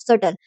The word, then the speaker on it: subtle: Opposite in meaning of सटल। Antonym आपसे पूछ रहा है opposite in the meaning of सटल, SUBTLE, बी यहाँ पे साइलेंट होता है।